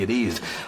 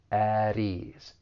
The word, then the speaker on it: at ease: For pronunciation, that final T in at, because it comes between two vowel sounds, once again, I am going to pronounce this as a flap T, and then we can link that flap T with the vowel sound in ease.